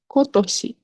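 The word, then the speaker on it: 今年: So this year is a bit, the reading is a bit special, so it's better to memorize it, which is kotoshi.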